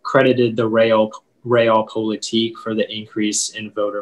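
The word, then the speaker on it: realpolitik: all the information please yeah so the only pronunciation is the real politique it's a noun and it comes from german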